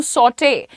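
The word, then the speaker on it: sauté: हल्का सा फ्राई is equal to सॉटे। अब यहाँ पर ये जब आप ई देखते हो ना, और उसके ऊपर ऐसा साइन लगा होता है, the pronunciation of E becomes a, सो you have to सॉटे the veggies.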